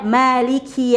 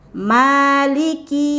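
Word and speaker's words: مالك: jimatnya lagi ya ada Maliki yaumiddin ya perhatikan di sini umatnya tidak boleh berlebihan di Maliki bukan Maliki ya kemudian di huruf kafnya di huruf q nggak boleh panjang bukan Maliki yaumiddin harusnya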